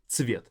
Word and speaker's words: цвет: Цвет. This first letter ц is very difficult. It's a combination of ts in English.